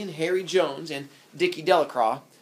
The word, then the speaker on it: Delacroix: Harry Jones and Dicky delacroix the villagers pronounced his name delacroix eventually made a great